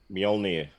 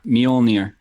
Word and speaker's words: Mjolnir: pronounced immured then Mjolnir see to me that just says end job yep job then in the Nordic language the Jay is pretty much silent and it sounds like a why some serious parts